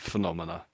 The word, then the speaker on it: phenomena: So phenomena with the a is sort of like the plural when you have lots of phenomena.